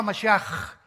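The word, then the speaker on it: מָשִׁיחַ: Se escribe Mashiach. Jesús el Mesías en el hebreo. Pero se pronuncia la CH. Yeshua Mashiach. Y siempre pronuncian dándole mucho énfasis a la palabra J en el hebreo.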